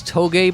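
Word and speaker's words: Touge: off the left there I think it's Toge Before Dawn is how you're supposed to pronounce it around here because we are Canadian we pronounce because it looks like Rouge with a t we call Twos Before Dawn there was somebody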